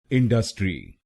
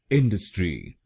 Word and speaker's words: industry: इंडस्ट्री, इंडस्ट्री। इस शब्द में 3 शब्दांश हैं। पहला है IN, दूसरा है DU और तीसरा है STRY। पहले शब्दांश को यानी IN हम बोलेंगे इन।